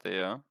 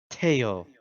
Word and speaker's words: Theo: Well, then figure it out, Theo. Teo. It is pronounced Teo.